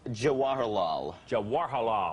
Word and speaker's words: Jawaharlal: itch after a while pronounce the name of the character for me jawaharlal as as in jawaharlal nehru which is where i believe